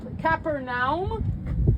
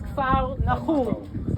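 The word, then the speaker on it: כפר נחום: Okay, it's like Capernaum is Kfar Nahum. Okay, Kfar Nahum, Capernaum. Mispronunciations changed the name.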